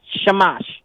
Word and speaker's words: shamash: do you say that shamash it's s-h-a-m-a-s-h right yeah so you gotta you can't separate it like like a Christian you gotta say it like a Jew where it's all one word a shamash shamash yeah there you